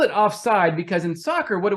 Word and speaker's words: offside: So I called the page Offside because that's how you say it. Right. It's not offsides.